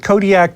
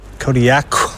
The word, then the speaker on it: Kodiaq: In the Alutiiq language, the Q's are more come from like your throat than a normal K does. How would we pronounce it then? Kodiaq. Kodiaq.